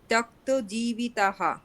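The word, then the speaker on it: त्यक्तजीविताः: ত্যক্তজীবিতাः। জীবিতাহা হবে কি? দীর্ঘ উচ্চারণ কেমন হবে? তাহা, জীবিতাः। জীবিতাহা। হ্যাঁ, তাহলে মদার্থে ত্যক্ত জীবিতাহা, বলুন এটা।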